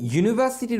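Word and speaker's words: university: আর যখন কোনো ভাওয়েল দিয়ে লেখা ওয়ার্ডের উচ্চারণ ইয়া অথবা ওয়ার মতো হয় তখন আমরা সেটাকে কনসোনেন্ট হিসেবে ধরে তার আগে এই বসাই। যেমন ধরুন আমরা যদি ইউনিভার্সিটির উচ্চারণ দেখি তাহলে দেখুন ওই ইয়া অর্থাৎ যেটা দেখতে ইংলিশের জে এর মতো সেই ইয়ার পরে আছে উ, তারপরে নি ভা সি টি, তার মানে ইউনিভার্সিটি, অর্থাৎ এটা কনসোনেন্ট দিয়ে শুরু হলো, সে কারণে এর আগে এই হবে।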